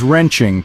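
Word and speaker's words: 人情: Chinese culture next up is wrenching pronounced as two second tones wrenching originating from Chinese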